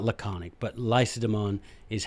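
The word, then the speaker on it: Lacedaemon: I am by Nature Spartan not laconic but lysodemon is how they pronounce that that's what they called their own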